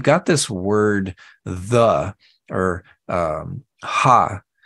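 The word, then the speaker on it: ὁ: So you've got this word the, or ha, it's H-O, written as a O, but it's pronounced ha, which means the.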